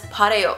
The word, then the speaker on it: 바래요: However, I don't know where it came from, but for some reason, Koreans just pronounce this word as pareo.